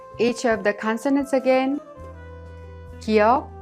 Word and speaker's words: 기역: 기역 is not a strong K sound or a voiced G sound, but pronounced in a soft K sound in an initial letter.